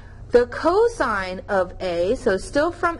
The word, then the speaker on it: cos: a being your angle even though you see just cos it is cosine not cos tangent is t a